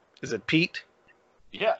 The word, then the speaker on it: Piet: with the spelling of Pete and how to pronounce it right. I just put the well, I mean, in German, if you read the name, it sounds just the way it sounds, Pete.